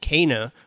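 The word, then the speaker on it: Kena: Kana, which I learned that's how you pronounce it.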